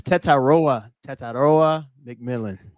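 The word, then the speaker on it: Tetairoa McMillan: And now I gotta figure out how to really pronounce his name. Nalo boy. It's Tetaroa McMillan.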